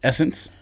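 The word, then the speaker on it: SSENSE: how you pronounce it, Essence. You know what I'm talking about? That Canadian store that's S-Sense. I thought it was like Sensei. I had no idea it was Essence.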